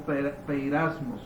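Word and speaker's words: πειρασμός: en el texto griego la palabra prueba más o menos se pronunciaría como pereiras mos o se escribe así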